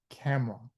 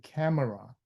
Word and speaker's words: camera: Same thing with camera. You don't say camera. You say camera. Just like you. You don't say different. You just say different. So some of the syllable you just skip over.